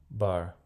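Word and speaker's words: בר: Então vamos colocar aqui o bet e vamos colocar aqui o reish, formando a palavra bar. Bar. O Aleph no final não vai pronunciar porque não tem vogal nele.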